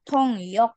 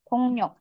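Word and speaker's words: 통역: DII artinya mengetik ya tulisannya tongyok bacanya Ya rabun tongyok He tongnyok tongyok ini artinya interting oke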